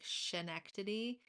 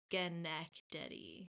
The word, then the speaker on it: Schenectady: the way it's spelt when I first saw it, I was like Schenectady, but it's Schenectady.